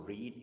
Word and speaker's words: read: Read, the spelling is the same in the past, but the pronunciation is different. Read, the past for read is read.